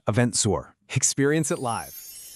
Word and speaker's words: EventZR: This has been Eventful Australia from the Eventful World 2026 series by EventZR, pronounced Eventzour.